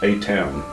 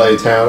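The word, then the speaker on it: Atuan: That is a town. You're gonna go, the name. Go get your sword back. I'm going to. It's like it's spelled A Town, A T U A N.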